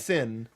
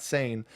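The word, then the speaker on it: Seyn: similarly I was like okay it's sin not not sane then we had Dell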